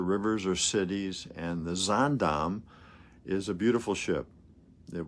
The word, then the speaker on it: Zaandam: That's spelled Z as in zebra, A-A-N, D as in David, A-M as in Mary, Zaandam.